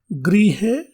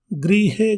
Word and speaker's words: गृहे: इसी तरह से एक और शब्द गृहे, गृहे घर को बोलते हैं और ग्रहे ग्रह आदि को बोलते हैं।